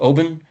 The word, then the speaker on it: Oban: I received a bottle of Oban 14. I know the Scots pronounce it Oban, but Colin pronounced it Oban, so I'll go with Colin's pronunciation on this one.